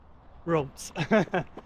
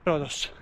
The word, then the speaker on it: Rhodes: along the roads of Rhodes. Along the roads of Rhodes. It rhymes, even though it's R-O-A-D-S and R-H-O-D-E-S. So that's why I'm more inclined to say Rhodos, which is what they say also in Greece and in Swedish.